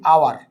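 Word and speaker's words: hour: তো আমরা কিছু পরিচিত এক্সাম্পল দিই, যেমন অনেস্ট, এখানে কিন্তু অনেস্ট যখন বলতেছি এর মতো উচ্চারণ আসতেছে, বিধায় আমরা কি লিখতেছি, অ্যান। আবার যখন বলতেছি আওয়ার, ঠিক আছে, তাহলে আওয়ার যখন বলছি, আওয়ার যখন আমরা বলতেছি তখন এখানে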